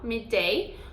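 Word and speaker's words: midday: me dei me dei esses dois dedos a gente pronuncia um só me dei ou não não então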